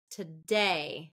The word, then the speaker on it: today: today today today okay that's second syllable stress today today if it was first syllable stress it would be today today to in so instead of that it would be today okay reduce to today okay graduation graduation this